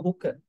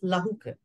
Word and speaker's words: lahuka: There is no Pali meaning for hooker. HUK has no meaning. The word is lahuka.